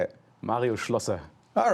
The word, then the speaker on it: Schlosser: Mario Schlosser.